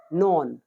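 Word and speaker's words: know: टू नो नो न्यू नोन नो न्यू नोन इसमें के हमारा साइलेंट रहेगा नो न्यू नोन 115 गलती करना टू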